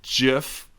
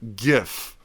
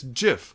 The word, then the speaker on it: GIF: okay so stop saying GIF it's not it's GIF like giraffe J okay we're done now